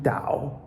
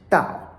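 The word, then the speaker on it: 導: This third tone Dao also can be pronounced Dao, is to lead, guide.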